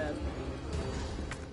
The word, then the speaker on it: herb: And I forgot why Americans don't pronounce the H in the herb.